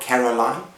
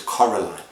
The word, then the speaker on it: Coraline: this is Caroline and remember how you pronounce the name pronounce her name it is not Caroline it is Coraline now this book is